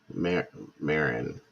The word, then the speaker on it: Marin: know good to know Marin like Cheech Marin uh Kim Marin good